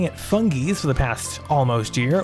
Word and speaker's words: Fungies: out they're pronouncing funkies with a hard g i've been saying it fungi's for the past almost year while this intro says fungies it's not even a